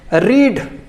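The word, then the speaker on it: read: होती है या और हम इसे बोलते हैं सेकंड फॉर्म को रेड थर्ड फॉर्म को भी हम रेड बोलते हैं ठीक है और गाइस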